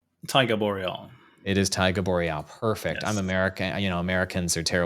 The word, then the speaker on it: Taiga Boreal: It is Taiga Boreal. Perfect. I'm Yes. American. Americans are terrible at pronunciations.